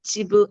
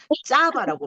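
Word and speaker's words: צָבָא: 찌브 아니면 레찌브 찌브 지브 아 지브 맞아요. 이거를 그렇게 말하면 안 되고 짜바라고 말해 줘야 돼요.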